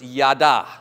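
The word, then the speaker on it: ידע: if if you like the Hebrew word it's yada okay y-a-d-a if you were to spell it phonetically okay yada it means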